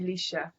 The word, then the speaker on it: Aleighcia: You understand, Professor Green and Lady, how you pronounce it, Aleighcia? Lady Aleighcia. Aleighcia, okay, definitely beautiful.